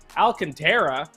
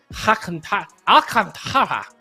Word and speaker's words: Alcantara: Sandy Alcantara is apparently how you pronounce it, according to producer Tito.